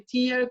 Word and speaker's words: tear: que, o sea, en español TEAR es desgarro, se escribe igual que tear, que es lágrima, pero se pronuncia TEAR, y